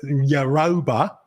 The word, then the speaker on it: Yoruba: It's Yoruba. I should get my wife up here to actually tell us how we pronounce it properly.